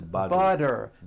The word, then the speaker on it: butter: And butter becomes butter.